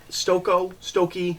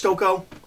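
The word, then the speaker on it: Stokoe: I read Aliens Dead Orbit, which is by James Stokey, not sure. I think it's Stoko. That looks like Stoko. I've heard a lot of people pronounce it differently.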